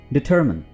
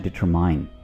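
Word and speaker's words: determine: डिटरमिन, कुछ लोग इसको डिटरमाइन बोलते हैं, ठीक है, डिटरमाइन, बिल्कुल गलत, इसको आप बोलेंगे डिटरमिन।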